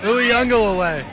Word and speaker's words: Uiagelelei: Uiagelelei. Who's your favorite player for Clemson? DJ! How do you pronounce his last name? Uiagelelei.